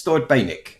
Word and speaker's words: Thord Bainick: It's Thord Bainick. That's how I pronounce it.